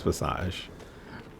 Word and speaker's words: Visage: Okay, so I guess it's French, which is why you don't pronounce the S at the end. So it's Visage.